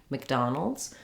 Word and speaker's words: McDonald's: a in it um the mc we pronounce that more like mick so um i almost